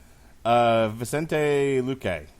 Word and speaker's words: Vicente Luque: Versus Vicente Luque. Oof. Luque? It was the first name. Your last name pronunciation was correct. Vicente? Vicente. Vicente Luque.